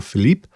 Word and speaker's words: Philippe: by Monsieur Felipe and I think it's pronounced Philippe it changes on the newspaper so I will stick with Philippe it could be Philip